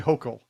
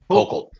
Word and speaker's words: Hochul: Governor, it's actually, I think it's Hochul, but Hochul. Hochul, Kathy Hochul. Hochul. But It rhymes with yokel.